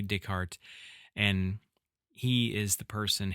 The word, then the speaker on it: Descartes: People from my area would probably pronounce it Descartes, but that's incorrect. He was French, Rene Descartes, and he is the